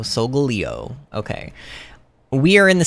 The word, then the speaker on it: Solgaleo: quick google check and the supposed official one is soul gal leo solgaleo okay we are in